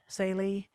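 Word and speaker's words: Tsaile: the nay college insalie t-s-a-i-l-e uh that's how to spell it saily or present it to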